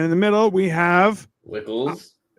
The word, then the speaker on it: Wckls: with that as his last name so it wickles it is it's fine it works there's no